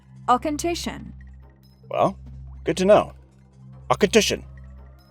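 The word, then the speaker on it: Auchentoshan: Professor, this lowland distillery is pronounced “Ah-KERR-shin!” “Ah-KERR-shin?” Did I do that right? That's pretty good. When you say it, your throat should feel slightly awkward or uncomfortable. “Ah-ken-TISHIN.”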